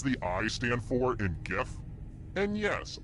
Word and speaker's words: gif: I stand for in gif and yes I pronounce it with the G sound not the J time to explore